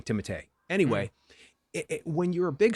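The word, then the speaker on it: Timothée: bardem um and timothy by the way it's timothee but whatever we'll go with timothy um charlemagne uh chalamet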